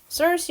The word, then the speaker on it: Circe: 5번 보면은 이거 5번 여기에서 일단은 키르케라고 네모칸 보면은 키르케가 예측을 했듯이 여기에서 키르케는 한국어로 키르케고 영어로는 Circe 혹은 Circe라고 읽습니다.